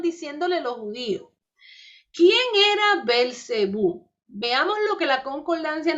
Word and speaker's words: Belcebú: nombre de satanás y también se pronuncia a belcebú nombre de satanás ya